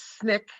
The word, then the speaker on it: SNCC: student nonviolent coordinating committee known as snik pronounced nick known as sncc mr